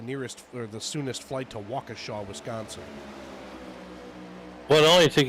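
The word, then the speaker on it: Waukesha: looking for the nearest or the soonest to Walker Shaw Wisconsin well it only take you three weeks to get that pronunciation right but you got it you got it yeah Walker Shaw Wisconsin it took me not three weeks it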